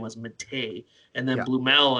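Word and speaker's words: Blümel: Blumel, I'm kind of speaking my English there. I'm not sure if that's officially the way to say it, but nevertheless, he was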